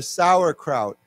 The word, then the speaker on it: Sauerkraut: Sauerkraut. Sauerkraut. Sauerkraut. Sauerkraut. Yeah. And the the pronunciation of this is the same. Sour. It's the same.